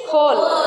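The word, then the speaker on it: whole: always in English there will be the ascension for a every rule okay so here होल वी आर not pronounce wall what we are pronounce होल actually rule is व्हेन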